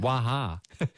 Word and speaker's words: Wah Ha: record isn't uh it's called waha pronunciation right yes that's exactly well done i wasn't quite sure